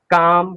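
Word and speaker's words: calm: ए ओ यू के साथ क्या आ रहा है? एल आ रहा है, तो हमारा वो एल साइलेंट हो जाता है।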